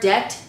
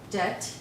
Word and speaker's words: debt: And the word debt, it's D-E-B-T, but the B is silent. Okay, so let me write that down here. Debt.